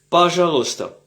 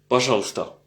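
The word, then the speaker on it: Пожалуйста: Pajalosta. Pajalosta. Pajalouesta c'est comme c'est écrit si on prononce chaque lettre. Mais au fait très souvent on dit Pajalsta. Pajalsta. Pajalsta. pasal pas jalou pasalsta les deux sont acceptables et je pense que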